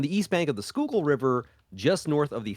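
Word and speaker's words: Schuylkill: it it's written like scil kill right okay it's s c h u y l k i l l kill here I'm just going to do a screen share so they can see it there skookle yeah skookul is how it's pronounced but um a show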